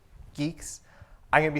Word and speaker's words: Guix: start with the pronunciation is pronounced geeks like the English word geeks I'm going to be